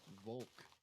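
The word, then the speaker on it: волк: It's Volk, because What? B makes a V sound.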